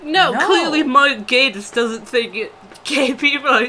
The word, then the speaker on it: Gatiss: It's like people always pronounce it Gaddis, and he was just like, just think gay.